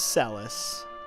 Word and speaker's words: Celes: their endings go together celes is sellis cheri or cher i